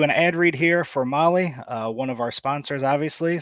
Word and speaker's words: Mahle: Again, Molly is spelled Mahle.